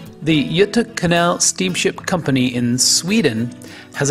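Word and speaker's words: Göta kanal: company and this fascinating Canal system the correct pronunciation is yut Canal the Yuta Canal steamship company in Sweden has a long history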